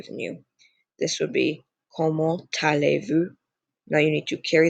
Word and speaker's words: comment allez-vous: So it'd be comment allez-vous? Again, do not pronounce that S.